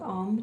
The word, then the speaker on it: Om: So Om is spelled A-U-M, silence.